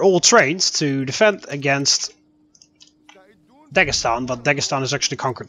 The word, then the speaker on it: Dagestan: situation here in Dagestan it's Dagestan actually if you want to pronounce it correctly hell